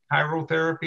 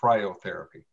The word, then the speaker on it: cryotherapy: i even mispronounced it it's chiral is it chirotherapy or cryotherapy cryo cryotherapy might be able to alleviate